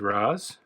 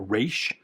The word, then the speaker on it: Ra's: And Raz, or Raish, depending on what pronunciation you're using.